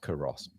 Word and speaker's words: Culross: It's pronounced Curross.